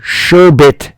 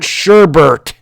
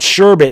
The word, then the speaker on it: sherbet: and it is pronounced sherbet people it is not sherbert it is sherbet there's one R in it I get my I